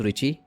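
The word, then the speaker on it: Ritchie: उसका नाम है Dennis रिच जी T silent है यहां पे और यह बेल लेबोरेटरी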